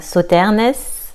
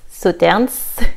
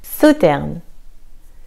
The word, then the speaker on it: Sauternes: Sauternes, le S ici est silencieux. Donc pas Sauternes, Sauternes, Sauternes.